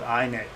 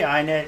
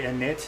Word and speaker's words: init: and most people say init init but i for whatever i i like i think i say i knit because of the iphone and all that stuff